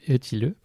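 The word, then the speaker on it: Ötillö: Donc ça s'écrit Otilo, mais ça se prononce Eutilleux. Oui. Dis-le pour toi, tu le dis mieux que moi. Eutilleux, ouais.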